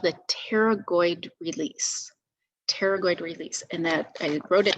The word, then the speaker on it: pterygoid: called the pteragoid release pterygoid release and that i wrote it down um so you could spell it out it's p is in pterodactyl so if you say